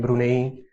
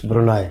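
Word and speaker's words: Brunei: Malaysia as well and brune how do you pronounce it's brune how do you pronounce brune that's how it is spelled okay so how would you pronounce it Brun okay it's brunai Brun huh this is very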